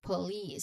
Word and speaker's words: police: You finish it with a little hissing sound letter s. So remember um you say it as police. So the second syllable is the stressed part here.